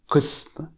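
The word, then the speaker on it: قسم: The word for department is qism, with a qaf pronounced.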